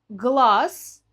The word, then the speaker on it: глаз: Глаз пишем с «з», говорим глаз.